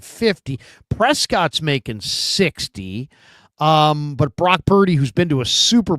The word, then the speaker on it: Brock Purdy: And when he called Brock Purdy, it rhymes with turdy.